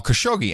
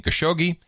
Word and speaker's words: Khashoggi: this dimension and then he gives me a little help on pronouncing khashoggi he says no ID he has actually he says the Italians do have a lot more fun with the Khashoggi name as they really highlight the cash part of it the italians